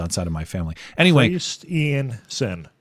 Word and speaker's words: Christiansen: Christiansen. Christian like the religion, S-E-N. And the thing about Christian like the religion, there are two I's in it, but this imposter has only one. It's Christiansen, like some kind of psychopath, presumably an Indian.